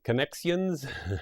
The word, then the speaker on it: Connexions: cross river connections uh-huh how do you say it with an x connexion connexions exactly it kind of gives it a belfast accent and i like it